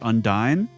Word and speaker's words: Undyne: Or you fight that boss, I think it's pronounced Undyne.